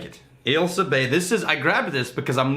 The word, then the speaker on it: Ailsa Bay: All right, we're drinking, and I'm going to pronounce it correctly, and then you can destroy it. Ailsa Bay. That's what I said. Ailsa Bay. Ailsa Bay.